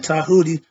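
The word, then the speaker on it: Djehuty: Okay, he's Tahuti or again Tahuti spelled with the D, pronounced with the T.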